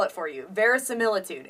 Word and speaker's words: verisimilitude: spell it for you ver similitude it's spelled v r i s i m i l i t u d e ver similitude the prefix very meaning true so truthful and then similitude sort of